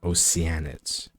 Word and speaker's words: Oceanids: humans I keep forgetting it's called oceanids that's how it's supposed to be pronounced before I leave though